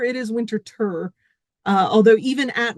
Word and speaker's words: Winterthur: As you heard Gary saying, this is not Winterthur, it is Winterthur. Although even at Winterthur, you get multiple pronunciations. There are many who call it Winterthur.